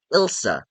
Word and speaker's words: Ilsa: that I'd really like seeing Elsa return, not Elsa from Frozen, Ilsa.